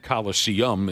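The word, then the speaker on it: Colosseum: the entire damn world the colosan and Coliseum is how you say it that's on my bucket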